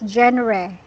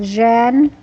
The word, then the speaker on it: genre: This is the way you said it is genre, but it's okay. This is how genre. It's ra. Genre. Yes, for the pronunciation genre.